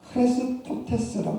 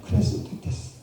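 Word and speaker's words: χρηστότης: 근데 재미있는 것은 이 친절, 이 자비라는 단어가 헬라어로 보면요, 크레스토테스라고 합니다. 크레스토테스. 근데 우리가 알다시피 우리 예수님을, 그리스도를 크리스토스라고 하죠. 근데 크리스토테스, 크리스토스, 이 발음이 비슷하다 보니까 세상 사람들이 이걸 잘 구분을 못했습니다.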